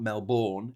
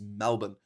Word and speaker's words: Melbourne: about Melbourne in Australia, it's not Melbourne, it's Melbourne. In the same way that it's Cairns, not Cairns.